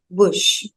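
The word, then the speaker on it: bouche: an example this is Bush it will be pronounced as Bush so Bush means mouth until now we have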